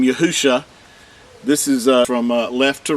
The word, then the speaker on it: Yahshua: This is the Mashiach's name, Yahshua. This is from left to right. The first three letters are pronounced as Yahu, and the last two letters are Shah.